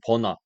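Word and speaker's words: Virna: 근데 그 이후로 이제 뭐 외국에서는 버나, 그 한국에서 비르나라고 부르는데 뭐 브라질 사람이니까 뭐 영어 발음보다는 한국 발음이 더 정확할 거라 생각해서 제가 생각했을 때 비르나가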